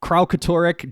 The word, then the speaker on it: Kralkatorrik: Dragon of Plant and Mind Cole, And Kyle, Kralkatorrik, Dragon of Crystal and Fury Harper. That's how you pronounce that word.